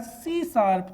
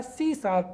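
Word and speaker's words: C#: component oriented programming discipline right it is pronounced as सी शार्प तो इसको क्या कहा जाता है इसको प्रोनाउंस किया जाता है c शप तो c+ या c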